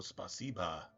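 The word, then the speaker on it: спасибо: Not spasibo, spasiba. So the O in Russian is actually an It's not a hard O, it's a soft O.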